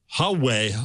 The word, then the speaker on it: Huawei: So I got a correction from David Schmidt on Twitter that the Huawei. I always do that wrong. The H is silent.